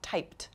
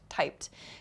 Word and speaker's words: typed: First is walked, second talked, and typed. So walked, talked, typed. You can hear the ED sound at the end of each verb. It's spelled ED, but the pronunciation is a T sound.